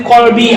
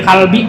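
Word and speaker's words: قلبي: Nah, qalbi dibacanya kalbi, anjing jadinya buat.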